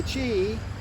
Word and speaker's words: qi: in your body and the chi spelled q i pronounced c-h-e-e-g is the energy so